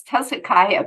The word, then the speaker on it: Tezikiah: just how they are and tessicaiah I'm going to call her tez because I'm sure I'm mispronouncing her name Miss welcome Miss oh thank you so much Barbara it's Tessa Kaya but you really did pretty well so thank you bless